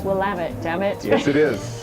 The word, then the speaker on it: Willamette: And how would you, for people unfamiliar with Willamette, well, Your first of all, pronunciation's perfect. Yeah, absolutely, absolutely. Well, I always remember it's Willamette, damn it.